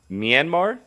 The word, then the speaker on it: Myanmar: February 1st, there was a coup in Myanmar, if I pronounce that correctly.